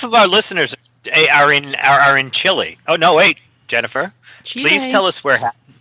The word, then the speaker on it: Chile: But do you pronounce your bowl of Chile like that too? No, that's chili. Or that. Wah, wah, wah. Chile is spelled Chile, which is completely different than chili.